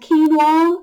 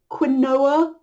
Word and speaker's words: quinoa: There are lots of different ways to say this. It's actually a Spanish word, and quinoa and quinoa are considered okay ways to say it.